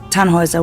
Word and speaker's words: Tannhauser: what's your name Tannhauser we'd pronounce it tan wasa with an armload German roots yes my